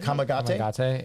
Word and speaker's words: Kamagate: They got Yan Kamagate. Is that how you say it? Kamagate? Kamagate.